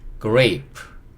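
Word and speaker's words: grape: 크게 적어보면는 그 은요가 만나서 그 피가 프 그레이프 그레이프 이렇게 읽을 수 있고 그레이프의 의미는 포도입니다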